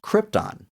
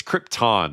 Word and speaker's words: Krypton: was just like, "Hey, it's Krypton, not Krypton."